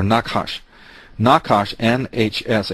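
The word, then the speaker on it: נחש: word for um serpent doesn't have any vowels but it's sort of pronounced like nahash or nakash nakash NH hsh H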